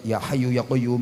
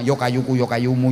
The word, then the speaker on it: ya hayyu ya qayyum: Orang-orang itu salah wiridan sama kiai disuruh baca wirid ya hayyu ya qayyum ya hayyu ya qayyum, salah bacanya yo kayuku yo kayumu yo kayuku yo kayumu yo kayuku yo kayumu yo kayuku yo kayumu.